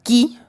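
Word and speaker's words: Kee: Se estrenó un 25 de diciembre, pero la trama nos presenta a una chica llamada Key, nada discreto, se escribe K-E-E, pero se pronuncia Key como llave en inglés, ella es la llave, y Theo Thelonious, que es el nombre completo del protagonista.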